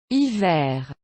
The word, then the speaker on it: hiver: Hiver. So now that you know, for the most part, what you should pronounce, back to the silent treatment.